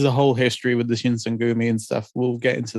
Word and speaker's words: Shinsengumi: But no, I mean, it's just about a young Ronin who applies to join the Shinsengumi. I think that's how you say it. Yes, that is correct. The Shinsengumi, the last wolves of Nibu.